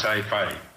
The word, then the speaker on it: SciFY: Να σας πω μια φράση πρώτα για τη SKAI, έτσι προφέρεται σωστά.